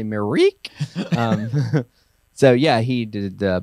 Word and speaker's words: Myrick: I say Myrick. He's never corrected me. So I don't know, but I hear Myrick a lot too. So maybe he'll let us know. Say it right. Yeah, it's actually Myrick.